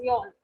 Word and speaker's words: yolk: word, then it is yolk. But again, L is silent over here, and we read it as a yolk, right?